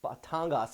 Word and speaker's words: Batangas: we've been seeing around Pang pangas Batangas excuse me I'll say it right uh we've been